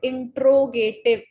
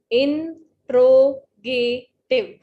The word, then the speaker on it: interrogative: अब आप इंटेरोगेटिव इसको बोलते होंगे, तो the right pronunciation of this word is इंट्रोगेटिव. इंट्रोगेटिव. तो ये जो डबल आर है, ये साउंड नहीं करेगा, टेरो नहीं होगा, ट्रो होगा. इंट्रोगेटिव.